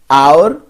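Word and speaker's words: hour: It will be noticed that the words our, honest, I begin with a vowel sound as the initial consonant is H which is not pronounced.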